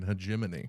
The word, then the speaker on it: hegemony: Top Gun and people bitching about it because it, like, shows American, how do you pronounce it? Hegemony? No, the term is American hegemony.